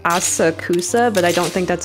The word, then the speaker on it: Asakusa: name I can never say correctly um yeah a saksa that's it interesting my my mouth always chirps